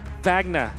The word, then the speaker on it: Wagner: Mr Wagner is Wagner I was listening to your cast pronouncing it corre incorrectly say vagna vagna there you go we'll keep it